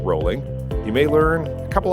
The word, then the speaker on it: Rowling: JK Rowling that's right the Harry Potter author's name is not pronounced Rowling but rolling you may learn a